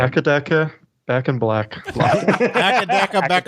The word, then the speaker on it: AC/DC: Also, it's pronounced akadaka.